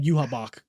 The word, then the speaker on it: Yhwach: His name is spelled like YHWACH, but then when you hear them say it's like Yuhabak or something like that. So the letter B is not there.